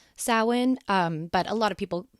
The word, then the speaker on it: Samhain: it's closer to salwin like sow like a cow and and for those of you uh listening to this uh via podcast uh Sawan is spelled s-a-m-h-a-i-n I